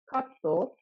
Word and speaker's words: カット: Basically, Japanese words cannot end with a consonant except the N sound.So a word always needs a vowel sound at the end of it. Therefore, katto is not cut, but